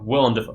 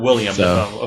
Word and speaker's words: Willem Dafoe: It is Willem. It is, and it's pronounced that way. It's W-I-L-L-E-M. Okay. Willem Dafoe, not William Dafoe.